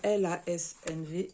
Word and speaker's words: LASNV: je vous ai dit lasn'v donc ça se prononce comme ça en fait elle a.snv